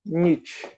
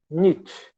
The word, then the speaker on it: Nietzsche: Esse tanto de letra, você pronuncia só Nietzsche. Friedrich Nietzsche. N-I-T-I é o que você vai pronunciar. Nietzsche.